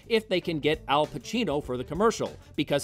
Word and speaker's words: Pacino: they can get al pacino for the commercial because his name rhymes with duncancino somehow al ends up